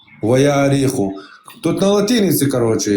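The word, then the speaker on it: וַהֲרִיחוֹ: Это читается правильно вяриху. Не, не в Вахариху, а в Яариху. Ваяариху.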